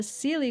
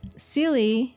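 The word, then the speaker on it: Seelie: courts and there's the cely court and unse court and it's spelled s e l IE not silly as you would think um and basically the um sely they are playful benevolent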